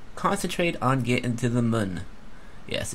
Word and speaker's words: Mun: This time we're gonna concentrate on getting to the moon. Yes, it's pronounced moon, not moon, but moon. M-U-N with a little rabbit face or whatever, eyes over the U there.